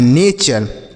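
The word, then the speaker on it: nature: इसे टूरे नहीं पढ़ेंगे। ऐसा टू रे टू रे ऐसे नहीं पढ़ेंगे। यह गलत उच्चारण होगा। इसे आपको चर पढ़ना है। जैसे एन ए से हो गया ने और टी यू आर ई को चर लिखा है नेचर।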